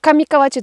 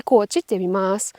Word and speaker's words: 上河内: Có vẻ như nó nên được phát âm là "Kamikawachi", nhưng nó lại được phát âm là "Kamikochi".